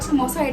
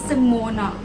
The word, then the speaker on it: Simona: So apparently it rhymes with Simona. They have a different explanation to it, so I'm just not gonna get into it. But it is not Samosa, it is Simona.